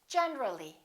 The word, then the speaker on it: generally: When we add the ly, we say generally. Generally, not generally.